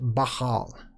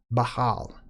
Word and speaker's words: Baal: named Baal or pronounced Bahal. Bahal. It's more of a guttural. It's a buh and then hal. Bahal, okay?